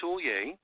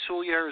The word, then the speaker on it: Soulliere: construction and Sully air is one of those names it takes you about a hundred times to figure out how to say it the right way it's sou ll ie ar e so it's easier to spell sou ll ie re and that's construction